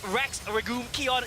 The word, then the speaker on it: Rex Regum Qeon: times as fun and that's our iq that's rex regul kion yes i've learned how to pronounce their name and they make it work